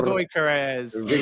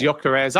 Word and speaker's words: Gyökeres: Joel, give the surname because I love your pronunciation of it. Victor. Victor plays for Sporting. Oh, Gyökeres. There we go. Victor Gyökeres.